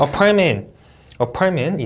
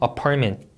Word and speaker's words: apartment: apartment, 이 T랑 M 사이에 음절이 없습니다. 맞죠? department 하고 T하고 T 해주시면 안 돼요. department, apartment 좋습니다.